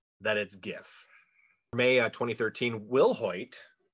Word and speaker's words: GIF: that it is pronounced gif with a hard g like grape he comes out and